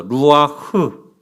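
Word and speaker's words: רוח: 흐 할 때 흐 하면서 이 숨구멍이 왔다 갔다 해야 돼요. 루아흐. 예, 한 번 더. 루아흐. 예, 루아흐가 아니라 후 해서 바람이 이렇게 통해야 돼요. 그게 원어의 발음입니다.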